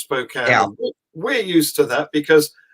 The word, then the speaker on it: Spokane: you're in spokane which is spelt spokane but pronounced spokane we're used to that because we have a